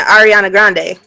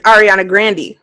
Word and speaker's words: Ariana Grande: You're saying her name wrong. How am I saying? You're saying Ariana Grande. Her name is Ariana Grande.